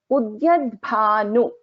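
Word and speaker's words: उद्यद्भानु: So when we pronounce a Samyuktakshara, we have to take care in such a way that every letter is heard actually. So even the has to be heard, bha also has to be heard.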